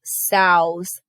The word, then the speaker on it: sow: like his name tag female pigs are called sows this word rhymes with cow the sow has given